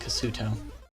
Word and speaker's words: Kasuto: I think it actually is properly pronounced Kasuto.